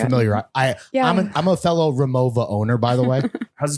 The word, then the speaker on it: Rimowa: So you just pronounce the W like the V. And Remova.